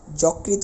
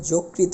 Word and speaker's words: যকৃত: তাহলে একই রকম ভাবে যকৃত বলতে পারবো না এটাকে যোগৃত বলতে হবে আমাদের উচ্চারণের ক্ষেত্রে অর্থাৎ